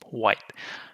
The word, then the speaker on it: white: is black and white we don't quite pronounce the T it kind of gets the top half of the mouth and it it just suspends that it just hangs there white other words bite light